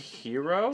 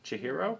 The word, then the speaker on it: Chihiro: Is that the right pronunciation? Shahiro. Shahiro. Chihiro.